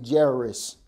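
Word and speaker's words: Jairus: I got the name jerus j a i r u s and I say jerus I say jerus she say jerus sounds insane you saying it wrong all right I'm saying it right anyway who can tell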